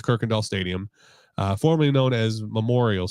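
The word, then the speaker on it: Kuykendall: I'm pretty sure it's Kirkendall it's just it's spelled like KU Kendall k-u-y then Kindle so but I'm pretty sure it's kirkendahl Stadium formerly known as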